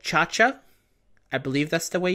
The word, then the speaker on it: Chacha: uh audio on so I just have to assume her name is pronounced kind of like in that scene from Emperor's New Groove where he goes hey kcha pcha so chaa her name is chaa uh let's see what